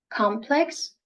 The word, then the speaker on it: complex: Either you can put the stress at the beginning or you can put the stress on the second syllable. Both is fine. Complex or complex.